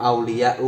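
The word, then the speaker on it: أولياءُ: Membacanya tidak boleh ulamaun, auliyaun, ini tidak boleh. Membacanya harus ulama'u, auliya'u, karena isim ghairu munsharif adalah isim yang tanpa tanwin.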